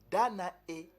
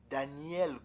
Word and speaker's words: Danae: Danae. Danae. C'est pas Daniel comme l'a prononcé ici les Masoretes édomites.